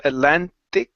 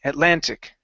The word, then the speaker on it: Atlantic: sound here instead of Atlantic using a soft T okay give me a hard T Atlantic Atlantic good all right nice